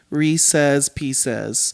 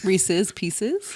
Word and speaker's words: Reese's Pieces: how it's pronounced like I know how it's supposed to be like re say pieces Reese's Pieces yeah that um you